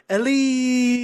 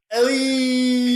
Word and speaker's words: Elly: It's the weirdest read, and I'll never forget it because it's canonically spelled ELL tilde Y exclamation point. Yeah, it's like, why would he put the emphasis on that syllable?